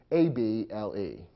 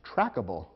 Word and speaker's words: traceable: Remember that if the silent E were dropped in this case, it might be difficult to pronounce the resulting word. And if you eliminate the silent E from traceable, the word might look as though it should be pronounced trackable, which would be incorrect.